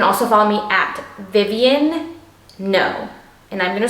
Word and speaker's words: Ngo: 3 N's, and then there's a G in the no part. The G is silent.